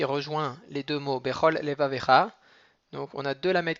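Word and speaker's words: לבבך: Et le deuxième vet qui va être avec un sheva na qui se prononce, leva avecha. Donc il y a une gaia qui va se trouver entre les deux vet.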